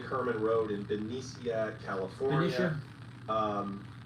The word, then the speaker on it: Benicia: Benicia? It's pronounced Benicia.